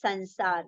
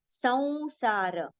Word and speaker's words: संसार: मृत्यु संसार मृत्यु संसार don't pronounce it as sansar. That will be a wrong pronunciation. Sansara, right? Sansara.